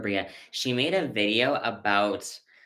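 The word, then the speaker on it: Breagh: Her last name is spelled B R E A G H. Kira Bria.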